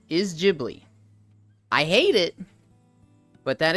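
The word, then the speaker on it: Ghibli: you think it's pronounced gibl because it starts with a g nope the correct pronunciation is jibli I hate it but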